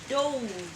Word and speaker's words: dove: But for the bird that flies, which is dove as well, that one is pronounced dove. Whoa! Dove, as in love, flood, lunch, not launch, flood, love, Wow.